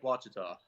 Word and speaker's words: Ouachita: Lake Ouachita. Okay, Ouachita. I was asking Chris because Chris normally can pronounce some things a lot better.